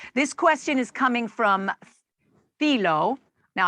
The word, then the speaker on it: Thilo: question is coming from filo now i hope i'm pronouncing your name correctly thilo t h thilo okay when when you